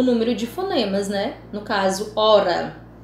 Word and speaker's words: hora: Então, isso já diminui o número de fonemas, No caso, hora. Ora, você não pronuncia o H, você pronuncia apenas o O-ra, O-R-A, certo?